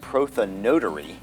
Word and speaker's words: prothonotary: It's a tricky name, and I guess maybe the better pronunciation would be prothonotary.